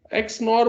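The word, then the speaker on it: XNOR: How is it pronounced, sir? एक्स नॉर बोलो, बोल सकते हो, ऐसे ही बोलते हैं, exclusive नॉर टू एक्स नॉर.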